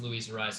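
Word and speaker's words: Luis Arráez: baseball was that uh luisa rise i know it's louisa rise because that's how they pronunciated at the stadium when i was at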